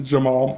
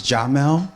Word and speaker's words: Jamal: So it's a pleasure to introduce you to Jamal. Jamal. Hi, everyone. Good morning. Good morning. Pronunciation is Jamel, but of course, we just met.